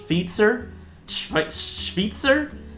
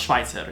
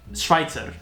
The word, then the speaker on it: Schweitzer: i've seen people say sir schwitzer but i mean it's i'm pretty sure it's pronounced schweitzer it's it's swiss german schweitzer anyway whatever i'm super